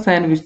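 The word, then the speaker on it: sandwich: काफी लोग दोस्तों इसको सैंडविच बोलेंगे, काफी लोग इसको बोलेंगे सैंडविच, सही आंसर होता है सैंडविच। तो यहाँ पर डी दोस्तों जो होता है ना वो आपका साइलेंट होता है।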